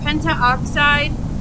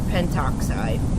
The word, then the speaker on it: pentoxide: say these names um but the conventional way to say this is pentoxide um so just kind of drop in that extra a I want to talk